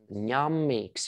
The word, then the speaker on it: ņemīgs: So, letter number four, which is very important, it is ņemīgs. You see N and kind of a comma underneath. So we pronounce it as ņa, ņa, yeah, soft ņa, palatal N, ņemīgs.